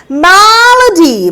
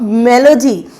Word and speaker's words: malady: Malady, malady, malady means कि when your day is not good, that is malady. Yeah, it is not melody. Mind the pronunciation. The word is malady.